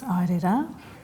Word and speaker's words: aere rā: Well, it's airera, All right.